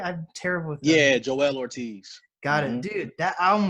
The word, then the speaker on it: Joell Ortiz: I listened to the so is it it's pronounced Joel Ortiz right I'm terrible yeah Joell Ortiz God and dude that album was fire cuz